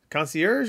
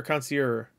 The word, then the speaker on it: concierge: trailer for Pokemon concierge concierge or coner coner is the g and e not you don't pronounce them coner coner whatever anyway